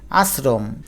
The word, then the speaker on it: আশ্রম: উচ্চারণটা করে দেখো আবৃত্তি আশ্রম এখানে তালব্যস থাকা সত্ত্বেও আমাদের দন্তস লিখতে হলো তার কারণ আমরা আশ্রম স এর মত উচ্চারণ করি নাই উচ্চারণ করেছি স বা চ এর মত আর স বা চ